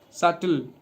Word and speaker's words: subtle: Now another word subtle. Be silent here.